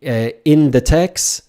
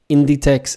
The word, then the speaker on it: Inditex: So if I say Inditex, that's a no-no. Inditex is the correct pronunciation, not in the text.